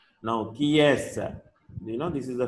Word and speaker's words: qui est: So how to pronounce? It is qui est.